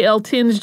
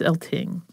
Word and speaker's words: Eltinge: mean I I want to say elting just reading it because there's an e on the end right but no so for today it's elting and Julian elting was